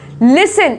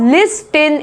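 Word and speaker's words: listen: और नेक्स्ट क्या है हमारा, लिसन, इसमें देखो टी साइलेंट है, पता नहीं क्यों है ऐसा, लेकिन ये इंग्लिश के अपने अजीब ही रूल्स हैं। ऐसा नहीं है कि जो लिखा हुआ है उसी को पढ़ोगे आप, लिस्टन ऐसा नहीं पढ़ा जाता,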